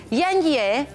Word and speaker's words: yenge: Estuvimos buscando, se pronuncia Yenge y significa, por ejemplo, Yenge sin M, cuñada.